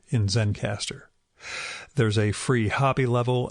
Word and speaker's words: Zencastr: If you're interested in that setup, it is spelled Zencastr, so no final E in Zencastr.